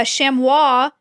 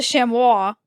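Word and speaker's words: chamois: And then uh shamwis c h a m o i s. Okay. Uh this is a shamois.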